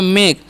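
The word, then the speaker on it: make: कैसे किया जाता है एम ए के ई है ना तो एम का उच्चारण हम कर देंगे म और ए का जो उच्चारण है यहां पर एक के लिए करना है और के का क करना है तो हो गया मेक और लास्ट वाड़ा ई जो है उसका उरण नहीं करना है क्यों नहीं करना है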